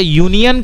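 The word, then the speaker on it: union: अच्छा, यूनियन का साउंड और यूरोपियन का साउंड तो बिल्कुल सही है, वो वाई साउंड है, वाई मतलब कॉन्सोनेंट, तो कॉन्सोनेंट साउंड है।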